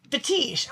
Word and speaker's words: Fetiche: And so we were told, well, I just spelled it differently and put an accent on the end. Everybody was happy. Put the E on the end and an accent on the I. And he's like, Fetiche.